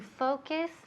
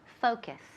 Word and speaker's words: focus: Bien, se escribe Focus, pero esa U al final suena como una A.